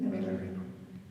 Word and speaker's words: Milarepa: You know how to pronounce it? Milarepa.